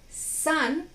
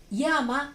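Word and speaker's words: 山: Y ese carácter se puede leer san en la pronunciación onyomi o china o yama en la pronunciación kunyomi o japonesa.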